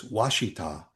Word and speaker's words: Ouachita: O U A C H I T A. Now, looking at that, I would probably say Ouachita. Right. Ouachita, Arkansas. Huh. It's Washita.